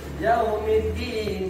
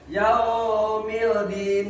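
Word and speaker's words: يوم الدين: Jadi enggak dibaca Yaumildin, enggak kan? Enggak enak kan dibacanya? Yaumildin ilahin nas. Jadi makanya dibaca Yaumiddin ilahin nas.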